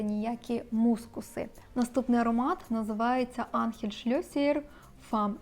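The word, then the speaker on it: Ángel Schlesser: мускуси наступний аромат називається анхель-шльосієр fome і це іспанський бренд Я знайшла саме таку вимову цього бренду анхель-шльосієр і буду називати цей бренд Саме так бо вважає що це правильно тут написано вам жінка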